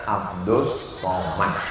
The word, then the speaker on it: Abdus Somad: Ini hamba Allah namanya Abdus Somad. Tulisannya Abdul Somad, tapi cara bacanya Abdus Somad.